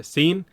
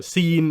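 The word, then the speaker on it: Hsien: one to get across the H seems to be silent and it's not as simple as just like CN or anything like that so scene or something like that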